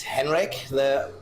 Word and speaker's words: Henrik: It's Henrik, my first name. It's bit Scandinavian with a D. It's Hendrik is German, so and Henrik is Scandinavian.